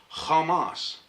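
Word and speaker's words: חמס: that's in captions but it is pronounced in Hebrew Kamas.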